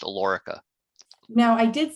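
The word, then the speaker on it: Alorica: role of senior director in his role at alarica his teams are responsible for planning forecasting scheduling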